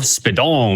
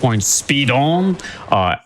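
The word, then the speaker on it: Speedons: Use !Speedruns, S-P-E-E-D-O-N-S. There's an S at the end of that. You're not supposed to pronounce it, but it's there.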